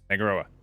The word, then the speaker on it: Tangaroa: There's an OA. I'm looking at it. Tangaroa. Okay, I've been pronouncing it wrong. Yeah. Yeah. Tangaroa.